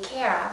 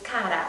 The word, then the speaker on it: Cara: I know people will want to say her name Cara, but her name is actually Italian, and it's Cara, and it means dear.